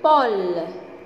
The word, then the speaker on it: pôle: Le pôle. Le pôle. Donc, toujours E à la fin du mot ne se prononce pas.